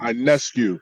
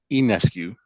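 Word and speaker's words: Ionescu: enescu and jacquel Jones incu yes sir sh no no it's not it's not I it's enescu enescu I said well sorry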